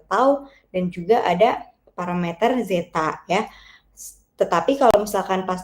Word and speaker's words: zeta: Ini dibacanya zeta dikali tau dikali S plus 1.